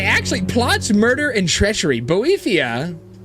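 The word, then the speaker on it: Boethiah: How to pronounce pronounce? Bo uh okay I am saying it correctly. Botheia the patron of plots murder and treachery sounds kind of like his thing.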